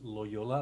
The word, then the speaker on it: Loyola: So it's spelled, and my last name is Loyola, like the university, but we have nothing in common.